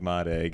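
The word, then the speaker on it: Mareg: His name is Marg. His name is spelled like Marage. It's M A R E G. Yeah, but there's an I in there somewhere. But but it said like M egg and like I said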